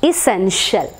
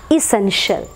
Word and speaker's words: essential: എസെൻഷ്യൽ, നമ്മൾ എസെൻഷ്യൽ എന്നാണ് നമ്മൾ സാധാരണ പറയാറുള്ളത്. എല്ലാവരും അല്ല എന്നാലും പറയുന്നൊരു കോമൺ ആയിട്ട് പറയാറുള്ളത്. But actual pronunciation is ഇസെൻഷ്യൽ, not shell. Since it is return with